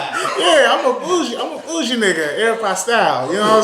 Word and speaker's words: Aeropostale: Southern Comfort, and it's like Aeropostale. Did I pronounce that right?